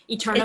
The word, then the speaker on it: Eterneva: Eterneva. Am I saying it right? Like eternal? Eterneva? Eterneva. Yep, Eterneva. exactly.